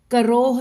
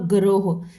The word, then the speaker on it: करोह: क देखिए, करोह और गरोह, इसलिए थोड़ा सा ध्यान से भी पढ़ लेना चाहिए क्योंकि बिल्कुल नियरेस्ट इसकी प्रोनाउंसिएशन बनती है, लेकिन ये है क कबूतर वाला है, करोह चोटी।